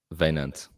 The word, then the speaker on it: Wynand: Wynand. Oh, okay. Wynand. So it's like vein.